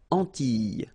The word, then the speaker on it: Antilles: So final S and E, really you don't pronounce them. So you get this E sound. Antilles.